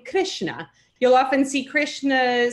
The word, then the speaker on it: Krishna: So that R with the dot under it is pronounced sort of like an R-I, R, Krishna, or Svasra, or Duhitra, which is daughter.